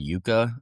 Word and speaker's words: Euka: One tool that I would look into is it's called Yuka. It's spelled EUKA.